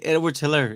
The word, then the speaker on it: Edwards-Helaire: Oh, Clyde Edwards-Helaire.